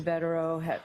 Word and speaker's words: Bederow: Bederow, is that how you pronounce his name?